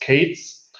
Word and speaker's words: K3s: then there is a k3s pronounced cates um and that is